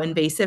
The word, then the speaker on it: invasive: v SI i v talk about how invasive has three syllables and the syllable um help us with how to pronounce it and how to spell it our first syllable is closed and so we see that short um I and in the second